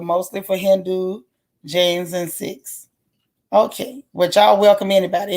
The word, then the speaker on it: Sikhs: It's pronounced Sikhs.